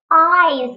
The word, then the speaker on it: eyes: Eyes. Вот это слово очень сложное. Посмотрите, как оно пишется. А читается оно абсолютно по-другому. Запишите звуки А, И, З. А, И, З. Ударение вперед. Eyes.